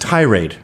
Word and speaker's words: tirade: that you're in this I believe it's pronounced tirade is it yeah too much emphasis on the tie oh really yeah you're